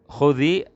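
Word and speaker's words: خذي: Khudhil kitaba, di sini khudhi, dan di sini ada kasroh, ya. Khudhi bacanya khudhi begini. Ini aslinya disukun.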